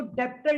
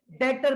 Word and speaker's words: debtor: यहाँ पे B silent होता है और इसको डेप्टर नहीं पढ़ते, इसको डेटर पढ़ते हैं।